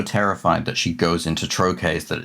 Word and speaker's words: trochee: So the difference being the iamb has the stress on the second syllable, the trochee has the stress on the first syllable.